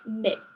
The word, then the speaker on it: Mx: mrs or miss and i learned that that's pronounced like mix mix yeah yeah that was